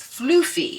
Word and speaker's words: floofy: But apparently in Yorkshire they say that she is floofy. Floofy. And they sell it f L O F Y.